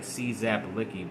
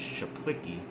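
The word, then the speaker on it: Czaplicki: say his name Eddie it looks like czap licky but I think it's chaplicky the punter who also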